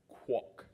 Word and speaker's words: Kwok: very very important announcements my last name is pronounced Kwok ok kW ok Kwok second my Instagram is Prince